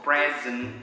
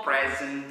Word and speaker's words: present: Simple present tense. Ya, saya ulangi, simple present tense. Bacanya pakai Z present, bukan present.